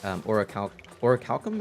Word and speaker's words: orichalcum: And what color are the orichalcum?